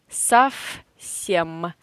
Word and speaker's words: совсем: If V stands in front of any not voiced consonants, like S, it is not voiced, we pronounce V in this position as F. Совсем.